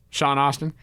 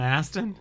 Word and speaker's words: Astin: like a little um Sean Austin Sean Austin not even that mean Sean Aston like you know the you pronounce it Aston I don't ever see